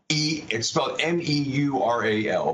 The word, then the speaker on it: Meural: That is a digital frame from one of our portfolio companies called Meural. It's spelled M-E-U-R-A-L, Meural.